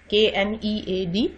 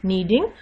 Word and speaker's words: kneading: KNEAD, kneading. The initial K is silent.